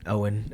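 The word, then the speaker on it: Eoghan: it's pronounced Owen, right?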